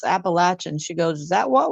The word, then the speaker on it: Appalachian: appalation I'm like there's no sh in there it's a appalache it's like think of uh Eve throwing an Apple at you know Adam appach apple you may have solved